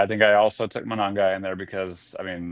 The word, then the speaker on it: Monangai: Same with this guy, Kyle Mongai. Am I mispronouncing this guy? Monangai? Monangai.